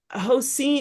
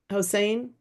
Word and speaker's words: Hussein: much appreciated okay so is it hos how do you say your name I know I'm not saying it right Hussein um we're gonna give